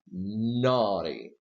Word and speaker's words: naughty: right to the right of T stressed do you say no T no you say naughty so the stress is here well since the stress is not to the right of T you can pronounce this teeth with a flap T and what you say is naughty naughty naughty okay let me well